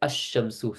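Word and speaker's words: الشمس: Either you pronounce the alif lam, so you say al-masjidu or al-qamaru, or you don't, and you pronounce it, for example, like ash-shamsu. So you skip out the lam.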